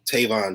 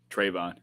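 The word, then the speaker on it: Trevon: i'm sorry i'm sure i just said his name wrong tavonne diggs right trayvon trayvon okay i knew i was missing something okay nobody gave a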